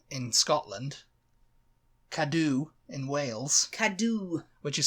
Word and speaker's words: Cadw: Cadw. Which is spelt CADW.